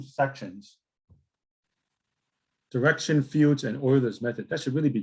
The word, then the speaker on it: Euler: It's pronounced Euler, not Euler, but it's a famous mathematician from yesteryear.